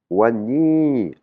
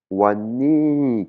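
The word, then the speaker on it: วันนี้: on a le mot wan nii wan nii qui veut dire aujourd'hui hein on voit ça commence par un w donc ça va se prononcer "wan wan wan ni" hein.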